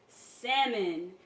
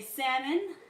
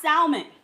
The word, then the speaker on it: salmon: Yes, say that right, salmon. And when I say salmon, I don't mean like those of you who pronounce the L in salmon. It's not salmon, it's salmon.